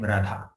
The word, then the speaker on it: Radha: So in Radha name, there is ra sound, then akara. Rakara, akara. Then dhakara and again akara. So 4 syllables. So not 4 syllables, 4 sounds.